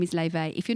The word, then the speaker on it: Laufey: If you aren't listening to Laufey, her name is pronounced Laufey. It is Laufey. It looks like Laufey, but her name is Laufey.